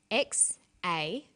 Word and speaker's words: Xavier: Xavier is spelt like this: X-A-V-I-E-R, Xavier.